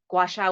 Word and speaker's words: gua sha: Oh, gua sha.